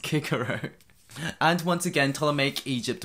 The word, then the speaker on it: Cicero: speak nine different languages you should surely know that it's actually pronounced kikaru and once again ptolemaic